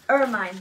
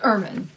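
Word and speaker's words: ermine: it's an man yes irine by the way well it's man is how I know it looks like irine but it's actually man is how you say it so go ahead and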